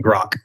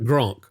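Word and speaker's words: grok: Grock is is the pronunciation. Grock. Grock. Grock. There's no N. So it's just it's just Grock.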